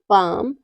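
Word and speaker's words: palm: के बाद एम आता है तो एल हमेशा साइलेंट रहता है जैसे है काम पाम बाम और आमंड इन सब में क्या है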